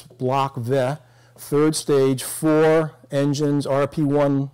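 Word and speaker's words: Блок В: this is Block V, which is the third letter in the Russian alphabet. So it's pronounced V. It's not a V for five, but it's Block V.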